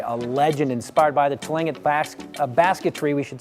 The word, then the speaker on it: Tlingit: That glass, how do you pronounce it? Tlingit. Tlingit.